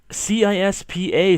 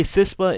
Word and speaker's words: CISPA: if you whatever other way you want to pronounce it cispa sispa is um with Central Intelligence sharing and privacy